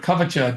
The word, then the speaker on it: Kavacha: So you can see the word kvacha doesn't have the h after the c because in Sanskrit when they have a c it pronounces as cha like ch like that but when you spell